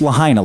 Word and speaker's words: Lahaina: of the island called Lahaina or it's pronounced Lahaina like vagina and this is where